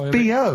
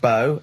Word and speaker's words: B.O.: So it's B.O. It's B.O. That's it's pronounced B.O. Well, yeah, but you've got to play... It's not pronounced bow, and it's not spout bow.